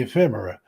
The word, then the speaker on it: ephemera: things like that the ephemera and she taught me how to say that ephemera ephemera e-p-h-e-m-e-r-a I think ephemera maybe he's not spelled it right but that's how you say it and uh so one